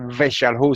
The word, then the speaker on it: Weshalhu: que si cuando está, yo uso la W en las transliteraciones, usted puede usar la V o la V si quiere, ¿verdad? No hay problema. En vez de decir la primera palabra Weshalhu, usted puede decir Veshalhu si quiere, pero yo prefiero la W.